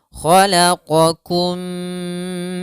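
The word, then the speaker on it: خلقكم: An khalaqakum, bedakan antara qa dan kaf. Qa-kum, khalaqakum min turab.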